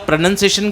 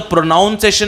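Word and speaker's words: pronunciation: प्रोनंसिएशन क्या है बेटा एक तो प्रोनाउन सेशन नहीं बोलना है नाउन प्रोनाउन नहीं होता है उच्चारण के लिए बोलते हैं प्रोनंसिएशन प्रो भी बोल देंगे तो चलेगा पर प्र प्रोनाउन नहीं बोलेंगे प्रोनंसिएशन या प्रोनंसिएशन इतना भी चल सकता है प्रोनंसिएशन या प्रोनंसिएशन दोनों एडमिस बल है कोई दिक्कत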